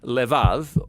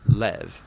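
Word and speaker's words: לב: this prayer part which in Hebrew is sometimes pronounced Lev or more often in a shorter form Lev now different cultures throughout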